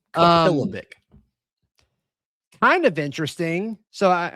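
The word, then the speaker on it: Kapilovic: Former Alabama offensive line coach, Chris Capilovic. I believe is how his name is spelled. Look at you nailing that pronunciation. Capilovic.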